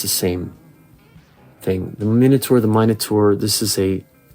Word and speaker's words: Minotaur: First thing, minotaur or minur. Miniur is the British UK pronunciation. I usually say minotaur. I was born and raised in the US with American English.